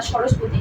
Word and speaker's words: সরস্বতী: এর মধ্যে এই নামটা একটু মেনশন করতে চাই, এটা হচ্ছে সরস্বতী। এই নামটা অনেক আসে এবং আপনারা এটাকে মনে রাখবেন সরস্বতী দিয়ে। কি দিয়ে? সরস্বতী। ভাই এটা উচ্চারণ এরকম না, সরস্বতী, কিন্তু আপনি যদি মনে রাখেন তাহলে আপনার আর কখনো ভুল হবে না।